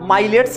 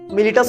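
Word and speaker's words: Miletus: मिलिटस शहर का माइलेट्स शहर का मिलिटस माइलेट्स बोला जाता है।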